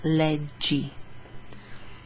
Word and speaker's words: leggi: Che libro leggi? So even though it looks like a double G and you think G, it's followed by an I, which makes it a soft GI. Che libro leggi?